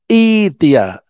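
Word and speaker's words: ائتيا: Kemudian kita ulangi, mengulanginya bukan i'tiya, tapi membacanya i'tiya taw'an au karha. Ya, bacanya i'tiya. Hamzahnya yang mati berubah menjadi ya.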